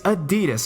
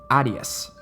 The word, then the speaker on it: Adidas: knowledge with my friends it's Adidas I said not Adias which was the incorrect way I had heard some people pronounce it out of